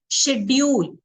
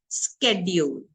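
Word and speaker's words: schedule: कुछ टाइम पहले तक आप बोलते थे शेड्यूल, बोलते थे या नहीं बोलते थे? हमारा ये शेड्यूल है हमारा। आज आप उसको क्या बोल रहे हो? स्केड्यूल। क्यों? शब्द प्रोनाउंसिएशन चेंज हो।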